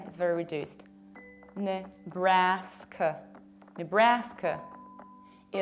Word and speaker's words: Nebraska: Another one is this one, and it's Nebraska, Nebraska. You don't pronounce ne, you say n. Bra-ska. Bra is very open, k is very reduced. Nebraska.